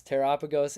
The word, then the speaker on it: Terrapagos: All right, so yes, Terrapagos is correct.